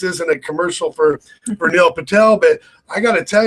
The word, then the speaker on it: Patel: That's how you pronounce the last name, right, Patty? Patel.